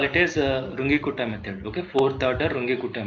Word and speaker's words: Runge-Kutta: All of you put this heading, method 5, fourth order how do you pronounce this? Can you tell me? Phonetics. Okay, so I used to call it as Runge-Kutta method.